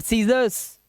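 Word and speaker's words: scissors: भाई ये एसेंट पढ़ेंगे सी साइलेंट साइंस सी साइलेंट सीजर्स ठीक है सी साइलेंट डिसिप्लिन सी साइलेंट मसल्स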